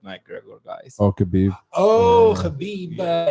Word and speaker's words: Khabib: regular guys okay oh Habib he's uh from Dagestan he says his name properly khabib how do you say